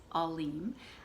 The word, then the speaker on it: Aleem: up the pronunciation and it is Aleem, pronounced that way.